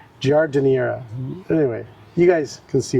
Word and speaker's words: giardiniera: Giardiera. Giardiniera.